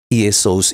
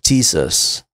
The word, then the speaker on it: Jesus: Tapi kalau di dalam pengucapan bahasa Inggris, Y itu dibaca sebagai J. Karena itu orang-orang Barat dengan berbahasa Inggris menyebutkan Yesus itu ditransliterasikan sebagai Jesus, kita Yesus.